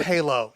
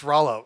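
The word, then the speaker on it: Rhalo: r holo mean yeah i assume it's halo but maybe i'm wrong but like phonetically put it in the chat yeah rallo r-h-a-l-o i i butchered it it's okay oh it's not halo it's rallo okay gotcha hello dj rallo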